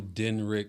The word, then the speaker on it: Denryc: know well everybody I'm denrick and uh it's spelled d-e-n-r-y-c but it's pronounced d-e-n-r-i-c-k so I'm Den Rick